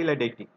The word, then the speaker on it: Chilaiditi: It is pronounced as a Chilaiditi syndrome.